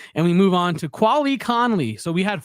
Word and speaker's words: Quali: They probably still think he's Quail. I'd be surprised if he got drafted and they didn't announce it as Quail Conley or something like that.